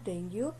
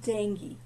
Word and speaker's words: dengue: हूँ वो है एक डेंगू फीवर का. आपको सबको पता है, हम लोग उसे डेंगू कहते हैं, but that is नॉट डेंगू. The right and proper pronunciation of this is डेंगू.